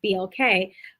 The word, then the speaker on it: BLK: So I got in, and it was a role to be an advisor, a Forbes BLK, and that's how it's pronounced, BLK, but a Forbes BLK Atlanta advisor.